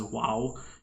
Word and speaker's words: vav: includes saying things like pronouncing vav as wow and pronouncing ayin as ayin with the sound.